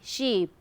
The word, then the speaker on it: sheep: You can see the I with the colon here, as in double E, sheep, and then you have just single I, ship, double O here, good, good, right.